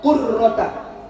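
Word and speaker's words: قُرَّة: Ingat, Bu, bacanya pakai qaf, qurrata, jangan pakai kaf. Kalau kaf berarti kurroh, itu artinya bola.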